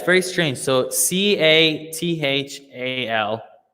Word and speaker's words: Cathal: So Cathal. It's an Irish name. It's the same as Carlo in Italian, but the pronunciation is quite strange. So if you just say Carl, like Carl, no Cahal or Catal, Carl, that's perfect.